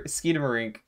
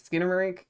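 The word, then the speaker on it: Skinamarink: of it I still haven't seen skid over Skidamarink Skidamarink I don't know how to pronounce it is this Skinnamarink yes yes getting spaghetti if I did the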